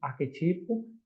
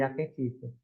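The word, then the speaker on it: arquétipo: Alguns exemplos são arquetipo ao invés de arquetipo.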